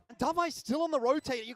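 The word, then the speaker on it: d4v41: That भाई is how you तूने एक pronounce चीज Davai, man.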